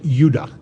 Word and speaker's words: Judah: were called Benjamin and Judah more properly pronounced anounced UDA because we didn't get the harder sound to the J until about 200 years ago so this is what